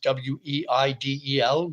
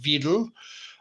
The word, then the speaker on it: Weidel: I would assume that's how her name is pronounced, Weidel, but W's in German are pronounced as V's in English. So I guess she would be Alice Weidel, leader of the Alternative for Germany party.